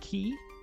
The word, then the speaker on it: quay: Telling telling telling a dyslexic person that qu u a y is pronounced key is probably the ultimate you.